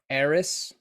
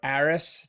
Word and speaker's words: Ahris: game is is is called Eris or Aris depends on how you want to pronounce it a-h-r-i-s and that could be ARIS that could be more like Eris like an heiress you know like an